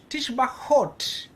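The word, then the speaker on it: תשבחות: It's for our pronunciation, we are going with the T sound. Whether there's a dot inside or not, we'll always pronounce it T. Ta. Okay. Tishbachot.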